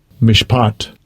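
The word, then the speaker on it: מִשְׁפָּט: pot I'll just get you the sound the pronunciation Strong's H 4941 mishpat mishpat so you know we have the valley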